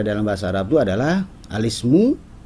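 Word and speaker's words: الاسم: bahasa Arab itu adalah alismu kita tidak dibacanya alismu Ya kurang tepat kalau dibacanya itu adalah alismu karena i dari Ismu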